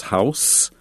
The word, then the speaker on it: house: course the noun is house but there's a verb house the same as house but pronounced with a z sound housing is is to